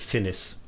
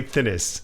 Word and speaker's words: Thinnes: the bloke off invaders finnish i think he pronounces it finis ah okay right it